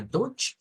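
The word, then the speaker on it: Deutsch: palabra de dos sílabas Esto suena a doch y esto a lant dch L Ahora les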